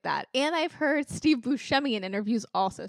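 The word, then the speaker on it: Buscemi: like that she was always like yeah it's Bui but no one's going to pronounce it like that and I've heard Steve Bushi in interviews also say that and I just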